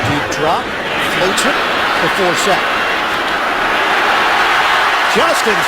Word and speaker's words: Forsett: Flacco deep drop, floats it to Forsett. Justin Forsett weaving. I have to tell people when they try to pronounce his name, it's like Dorsett.